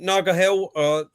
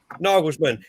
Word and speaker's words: Nagelsmann: Nagahel? How do you pronounce his name? Nagelsmann.